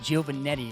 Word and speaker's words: Giovannetti: very excited to have Associate Athletic Director, Giovannetti. Is that right? Hey, you pronounced it correctly.